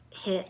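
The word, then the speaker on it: HIIT: thyroid issue as well high intensity interval training or hit or height depending upon who you're around and how they say it but this is where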